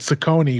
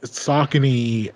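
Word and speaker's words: Saucony: like A6 before or s we used to pronounce it Sone which is wrong but uh sakon um new New Balance was always a East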